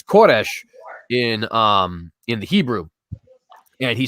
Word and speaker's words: Koresh: excuse me, in the Persian, I believe is pronounced Kurus. but it's Koresh in the Hebrew.